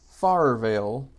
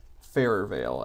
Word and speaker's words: Farrervale: map the entire time I've been calling it farer Veil and mogali kindly reminded me that it's supposed to be pronounced farer Veil so I promised him for